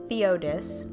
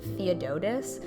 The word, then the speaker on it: Theodis: In my heart, I want to call him Master Theodotus, but there's no extra syllable, there's no extra words, there's no letters that justify that pronunciation.